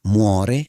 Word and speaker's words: muore: Muore is pronounced with a clear rolled or tapped R sound in many accents. Mu-o-re.